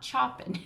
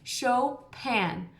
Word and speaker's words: Chopin: it looks like Chopin everybody says Chopin it's not chopping you say his name sho pan like a show and a pan like a frying pan Chopin can you